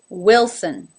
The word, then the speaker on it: Wilson: Number 8, Wilson. Now again, the first syllable here ends with an L. So we start with a wi, but then we